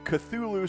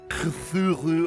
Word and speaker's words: Cthulhu: This is actually a sequel to Cthulhu Saves the World. And I know that that's not really the correct pronunciation for it. It's more Cthulhu, or you gotta like clear your throat when you say it.